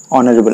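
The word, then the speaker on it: honourable: ইউ R hour আর যেহেতু ইয়ার প্রত্যেকটুরে honest অনারেবল আমি তো অনারেবল বলে উচ্চারণ করুম বা অনেস্ট যেটা আমি এটা উচ্চারণ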